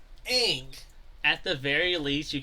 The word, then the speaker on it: Aang: Where do you even get a U from? Right? It's like, it's A-A-N-G. Ang.